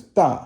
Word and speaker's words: 大: The next one is da, which means big, fourth tone.